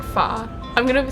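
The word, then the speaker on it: phở: I think it's much much better than pho is how I used to pronounce it. But later I learned I think it's like foh.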